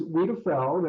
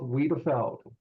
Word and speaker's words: Wiedefeld: And if you were on a balcony with him and the two of you fell off, Wiedefeld, right?